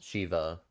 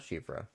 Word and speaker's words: Shiva: male half female or it's Shiva not shivra um I mean we